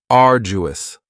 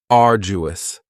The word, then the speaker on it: arduous: And arduous has three syllables and the stress is on the first syllable. Ardu. Now, you don't hear that D sound that much. It's not very strong. It almost sounds a little like a J.